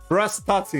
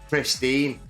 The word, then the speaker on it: Prestatyn: How do you pronounce Prestatyn. Prestatyn. I was laughing at you last night on this. I didn't want to say you were saying it wrong. Yeah, because it's difficult to know. And the way you wrote it on the stream as well, it said pristine.